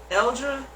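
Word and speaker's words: Alder: It's pronounced Eldra.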